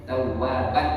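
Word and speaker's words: تَوَّابًا: Tawwaban bismillah. Karena ini ada tanwin. Tawwaban bacanya. Tawwaban.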